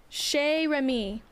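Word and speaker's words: Chez Remy: we're going to Remy's Shea Remy that's how you say it so I can head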